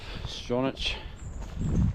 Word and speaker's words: Stronach: Trying to get to Stronach, that's how you say it, today.